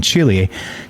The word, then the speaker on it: Chile: Captured with the Atacama Cosmology Telescope, the ACT, in Chile is how you say it, between 2013 and